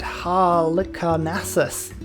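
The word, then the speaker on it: Halicarnassus: gustav eiffel trick here is the mausoleum at hal carnassus that's how you pronounce that one utterly boost that which means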